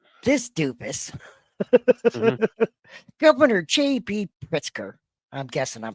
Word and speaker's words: Pritzker: Pritzker, I'm guessing I'm pronouncing that right, Yes, Pritzker.